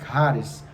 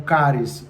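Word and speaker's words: χάρις: grego, se escreve charis com CH, mas se pronuncia charis, né, ou caris, dependendo de quem pronuncia, dependendo do professor, mas na graça e no conhecimento.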